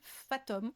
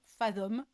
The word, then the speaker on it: Fathom: ajoutée avec un outil qui s'appelle Fathom ou Fathom, dépendamment si vous le prononcez à la française ou à l'anglaise.